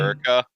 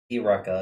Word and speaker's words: Eureka: Erica. I'm tired. It's a. I was just like, are you trying to name her Erica in a really weird way? Eureka is how you pronounce it.